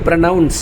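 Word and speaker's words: pronounce: இதே PRONOUNCன்னு சொல்லும்போது ப்ரனவுன்ஸ் அப்படின்னு சொல்லணும்.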